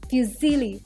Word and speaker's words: fusilli: popular again I will tell you how it's pronounced it's called fusilli pasta so next up in the row we